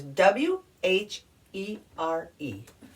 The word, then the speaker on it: where: the first word is w h e r e looks like it should be pronounced here because you have the word here in there put a w in